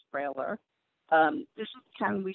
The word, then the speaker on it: brailler: Okay This is a braille writer, also called the brailler, braille with an r on the end of it. Pronounced brailler.